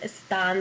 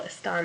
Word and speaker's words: están: Again, you've got a plural subject, so hopefully you said están there, accent on the A.